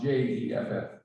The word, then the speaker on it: Geoff: His name is spelled Jeff, that's how it's pronounced, No, it's spelled Geoff. but it's pronounced Jeff.